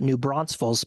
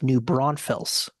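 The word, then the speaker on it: New Braunfels: I new Bron Falls new Bron everyone everyone pronounces it new bronze Falls but it's new brunfels really yes I stand corrected whoa that's amazing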